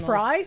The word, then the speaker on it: Frey: motans and instead Frey actually pronounced Fry.